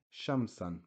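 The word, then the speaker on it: شمسًا: here at the end and the LF is silent so it just carries the double fatah the word is still pronounced okay sham-san because remember I said tenuin fat hot just makes the ah which is the short vowel fatah and so here shamsan same for this word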